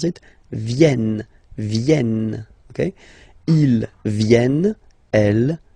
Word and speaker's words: viennent: Ils viennent, so remember this classic ending ENT for the third person of the plural is here, but phonetically it doesn't exist, so you don't pronounce it. Viennent, viennent, okay.